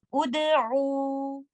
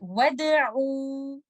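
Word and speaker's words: ادعوا: But if somebody asks you to start this word after letter waw, you will decide the vowel for Hamzatul Wasl. And in this case, because second letter is not lam, you will move on to the third letter. Third letter has udamma. You will recite it like this. Ud'u. And when you are reciting with waw, you will say wad'u like this.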